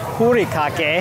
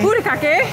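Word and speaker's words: furikake: So, with the Star Wars follow-up, we went to Katsaka's to get what we thought was And I found out it's pronounced hurikake. Hurikake.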